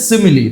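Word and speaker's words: simile: থেকে তো দেখে নাও প্রথমেই রয়েছে কি সিমিলি এটির উচ্চারণ হচ্ছে সিমিলি তারপর মেটাফোর ওকে পারসনিফিকেশন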